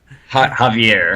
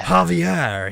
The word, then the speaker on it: Javier: I think I pronounced his name right. Javier. Javier. I was close. I was so close. He's a It's Javier. Javier.